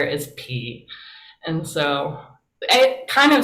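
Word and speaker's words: πι: noticed in the video they do say p and if you want to be a good like ancient greek person and not just a fraternity there's nothing wrong with learning greek for a fraternity but you would say p um and i just want to know if professor oakley was correct or not when you said pie i think we all say pie when we're just not thinking about it right like yeah i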